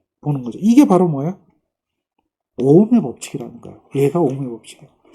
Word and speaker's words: ohm: 이거는 오음이라고 읽죠. 오음, OHM, 오음.